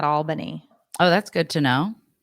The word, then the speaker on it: Albany: Oh, somebody's like, you pronounce it Albany, not Albany.